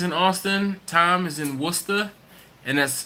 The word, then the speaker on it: Worcester: Island super Johnny's in Austin tom is in Worcester and that's pronounced Worcester Worcester ok not Worchester Worchester Worcester ok Baxter Craig is in Spotsylvania